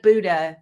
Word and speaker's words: Buda: They used to be in Buda, Texas. Looks like Buda. That's how you say it if you're not from around here. They used to be in